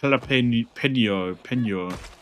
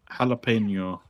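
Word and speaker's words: jalapeño: It's like like jalapen po jalapeno. Jalapeno. Jalapeno. Jalapeno. Is that right? Close.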